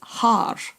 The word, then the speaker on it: haar: And if you want to be obnoxiously Scottish and roll your R's, Haar is, it's fantastic.